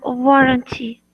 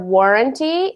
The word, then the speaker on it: warranty: A warranty. Good. A written guarantee. Good. Just make sure to put the emphasis So for warranty, it's on the first syllable.